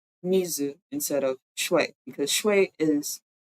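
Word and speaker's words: 水: in Japanese is Mizu so even though they are the same character they are pronounced differently so back in the day when Japanese people used the Chinese character for water um they probably be pronouncing it Mizu instead of because is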